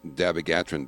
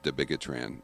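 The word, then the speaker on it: dabigatran: And and you mentioned uh another drug is that I guess it's pronounced Davagatran, but I I like to pronounce it debigatran.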